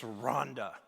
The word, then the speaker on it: Rwanda: on his behalf to tell you it's rhonda okay pamela will say it's like help me rhonda help help me ronda